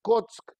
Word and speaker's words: Kock: K, O y alguna letra de esas consonantes que se escriben en polaco que uno no sabe cómo se lee. En hibrid se le dice Kock, y es muy interesante